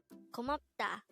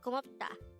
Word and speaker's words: 고맙다: GOMAPDA, which means thank you or thanks in Korean.